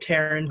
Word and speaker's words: Taran: to say it incorrectly sure it's like taryn it's like taran oh beautiful okay it's taran how do you say